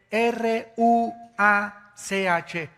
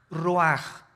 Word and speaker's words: ruach: Qué cosa el ruaj que se escribe r u a c h ruach en el hebreo y se pronuncia igual ruaj Aquí vemos que al